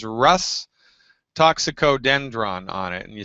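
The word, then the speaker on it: Rhus toxicodendron: So you want to find the tube that says, first I'll say it and then I'll spell it. It says Rus toxicodendron on it, and you spell that R like Roger, H like Harry, U, S like Sam.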